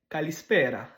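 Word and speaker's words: καλησπέρα: Et puis finalement, en grec, kalispera, kalispera. Fait que tu mets l'emphase sur l'avant-dernière syllabe, kalispera, kalispera.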